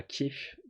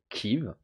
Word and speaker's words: Kiev: parce que Kiev, avec un E, c'est la prononciation russe, et du coup, il y en a plein qui trouvent ça de mauvais goût de garder cette appellation-là, et de le faire à l'ukrainienne, finalement.